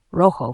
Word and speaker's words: rojo: R is strongly trilled, rolled at the beginning of a word, for example, rojo for red.